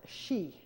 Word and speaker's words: Xi: The current vice president there, his name is pronounced Xi. An X in pinyin is pronounced like an SH.